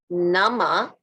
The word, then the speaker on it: Namah: i'm gonna say it and then i'm gonna spell it the mantra to get in touch with sheba is om o m nama n a m a y chevay s h